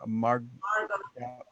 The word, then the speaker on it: Margaux: Stephen asked, the Hemingway, how do you pronounce her name? Margot.